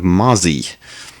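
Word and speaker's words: Mossie: known as the Mazi I'm not quite sure why it gets converting from mosquito to spelling of m o s SI i e to pronunciation of Mazi there's no z sound in mosito Moos mosito I don't get it uh but you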